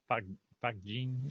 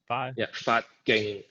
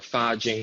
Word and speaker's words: Fa Jing: Can you explain a little bit of the Fat Jing? I'm pronouncing it wrong. Fat Ging, or Fa Jing in Mandarin, Fat Ging in Cantonese, is literally energy emission.